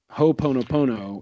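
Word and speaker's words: ho'oponopono: Popo how do you say it again oh ho pono pono is a an excellent exercise and there are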